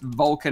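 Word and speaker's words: Volkan: And the game is pronounced Vulcan as in V-O-L-C-A-N.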